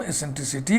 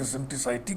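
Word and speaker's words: eccentricity: कुछ लोग इसका उच्चारण एसेंट्रिसिटी करते हैं, कुछ लोग एसेंट्रिसाइटी कहते हैं, आपका जो मन करे करिएगा, इसमें हम नहीं बायस्ड हैं, ठीक ना।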